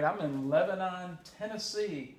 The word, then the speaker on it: Lebanon: all right I'm in Lebanon Tennessee that's Lebon Lebanon I'm saying it wrong I should know better but anyway I'm in